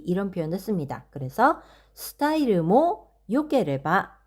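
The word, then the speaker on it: よければ: 그래서 스타일모 요케레바 이 데스네 이렇게 표현을 했습니다. 뒤에 케레바가 붙는 경우에는 요라고 읽으셔야 되고요.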